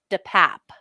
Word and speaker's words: DePape: Oh, the only time he spoke during the arraignment Tuesday was to tell the judge how to pronounce his last name, which is DePap.